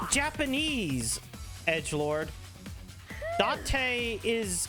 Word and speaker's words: Date: Date is how you pronounce it in Japanese. D-A-T-A. Because D-A is da and T-E is te.